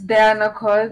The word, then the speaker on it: Dyana Cods: Is it Dyana Cods jina yako inatamkwa vipi kweli? So it's Dyana Cods, mm-hmm.